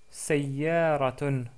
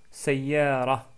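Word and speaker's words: سيارة: Ce mot-là commence avec le son sa, sa. Il s'agit de la lettre sin associée à la fatha, si vous voulez. Ici, c'est marqué en rouge, ce son-là est sa.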